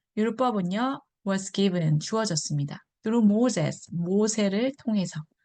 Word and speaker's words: Moses: through Moses, 모세를 통해서 Moses, 즈 발음입니다.